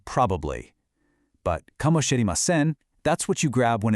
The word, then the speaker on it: かもしれません: Okay, here it is, kamoshiremasen, pronounced kamoshiremasen.